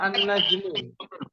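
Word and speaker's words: النجم: najmun bintang bintang ya ketika kemasukan alif lam maka dibacanya apa umahm apa anajm anajm anajm annajam akan otomatis mengikuti huruf Qariah atau huruf Syamsiah dengan syarat apa dengan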